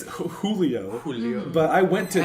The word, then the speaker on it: Julio: man like dude I see that how you pronounce it Julia I've always say I I should ask this is that how you pronounce it clearly it's Julio Julio but I went to her with cheese